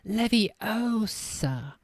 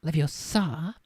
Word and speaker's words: Leviosa: arms like a windmill you're saying it wrong Harry heard Hermione snap it's Levy Osa not Leviosa you do it then if